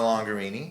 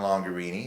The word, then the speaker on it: Longarini: me on Instagram longer Eenie nice or also on Facebook longer Eenie and longer Eenie is spelt rhymes with Lamborghini Lamborghini longer yeah